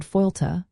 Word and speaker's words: fáilte: The Irish word fáilte, pronounced Fáilte, directly translates to welcome in English.